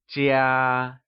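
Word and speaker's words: 家: let's begin with vocabulary the word home translates to Jia and it is pronounced using the high level tone let's hear you say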